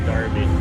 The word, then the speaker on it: Derby: Regular Premier League game, but they call it the North London Derby. Pronounced Derby. The North North London Derby.